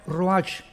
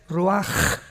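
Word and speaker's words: ruach: h, que se pronuncia roach, pero en el hebreo es roaj. La ch en el hebreo es como J.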